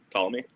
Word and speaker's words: Ptolemy: Did you say Ptolemy? Ptolemy? Am I saying it wrong? There's a P in there somewhere. Ptolemy? Is that Ptolemy.